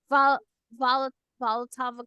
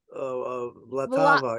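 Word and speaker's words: Vltava: Volatava Clay from Czech Extreme. Vlatava, yeah.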